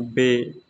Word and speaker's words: ب: in in Arabi we read this word like ba ta sa but in in uru we read